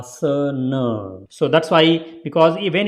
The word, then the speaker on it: Asana: why you will see a lot of people will saying it Asana but it is not Asana it is a uh sir nerve so that's why because